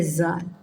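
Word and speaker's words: ذال: का कायदा यह है जाल ठीक है इसको ज ज करके प्रोनाउंस किया करें यल नहीं है यह है जाल पूरा जाल तो जाल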